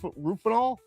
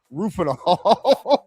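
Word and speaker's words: Rohypnol: I I don't know how to How do you How do you pronounce the uh the actual name for Rofies? Ruf Rufinol. Yes. Rufinol.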